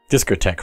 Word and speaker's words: discotheque: being back in the Disco Tex of my youth discotheque right that's how you say that why is it spelled like that I am concerned recommended